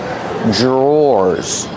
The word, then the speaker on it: drawers: called These are called drawers the pronunciation is not like the spelling pronunciation Dr makes a j sound J J plus the r together J drawers or like door and